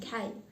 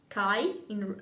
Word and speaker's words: Kai: Chapter 2, Gerda and Kai. Actually, I got used to say Kai as in Russian, but in English it seems that's right to pronounce it K or something like that.